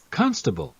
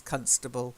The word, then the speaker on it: constable: pronounced okay voices so listen to this constable okay because Indian state constable I mean people would probably understand you but in British English its constable and it's of course